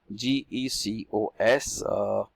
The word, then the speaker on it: GECOS: GECOS.